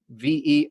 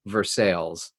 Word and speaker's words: Versailles: going to see that Versailles is not pronounced Versailles. It's pronounced Versailles. Why? There's an E-L-L-E. We don't know, but that's the French pronunciation.